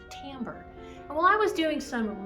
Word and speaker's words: timbre: it's not totally weird it looks like it should be pronounced timber but it's actually pronounced timbre while i was doing